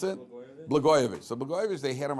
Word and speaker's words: Blagojevich: How do you pronounce it? Blagojevich.